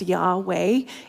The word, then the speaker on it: Yahweh: doesn't contain vowels and the true pronunciation of the name has been a mystery for centuries so let that sink in though more recent scholarship does suggest Yahweh is correct now you may know